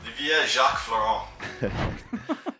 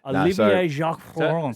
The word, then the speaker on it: Olivier Jacques Florent: Yeah, they speak French, so um that's where my grandparents sort of call me and what how they pronounce the the last name. Um I obviously don't pronounce it like that, but um yeah, call